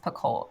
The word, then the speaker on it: Picoult: things by jod PCO I think her last name is pronounced pult I just want to